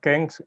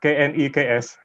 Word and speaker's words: KNEKS: The name of our organization is not KENGS, but KNEKS. Okay, I was trying to pronounce it. I'm sorry. Yeah, so just KNEKS. It is not a word, it is abbreviation actually.